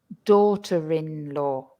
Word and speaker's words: daughter-in-law: However, when we add the word in-law to them, you will suddenly hear that we pronounce the R again. Listen, mother-in-law, father-in-law, daughter-in-law.